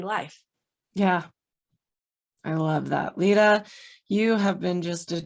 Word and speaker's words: Leta: So my name is spelled Leta, so Leta, not Leda. Leta, and then like the color with an E on the end.